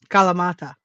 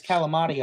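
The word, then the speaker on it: Kalamata: Every Hey, correct me how I did how I said it wrong. Say it for me. Kala what? Calamata. Calamata olives. Yeah, calamata olives. In redneck, North Carolina. It's calamati olives. But um or calamata olives.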